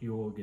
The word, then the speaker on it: yoga: few people understand what yoga is really all about how it is to be practiced what does it mean and most importantly how it is to be pronounced yog yog yog yogg namaste so